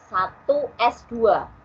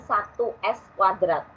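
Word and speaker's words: 1s²: 1 bacanya diingat 1S2 bukan 1S kuadrat. 1S kuadrat itu ada di matematika. Tapi kalau ini itu ada di kimia.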